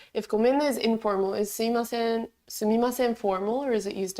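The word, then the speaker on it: すみません: something, you can say sumimasen. It's also pronounced suimasen, it's just easier to say. But it's spelled sumimasen.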